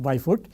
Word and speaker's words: Bijvoet: Very interesting spelling, pronounced as Byfoot. So, you can say Bijwayot if you want, that is what most of us spell it, but it is pronounced Byfoot.